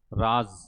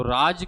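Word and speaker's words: राज़: राज, और नीचे का राज। उच्चारण अलग हो रहा है। राज और राज झनकार के साथ उच्चारण किया जाता है, और इसी बिंदु को कहते हैं नुक्ता।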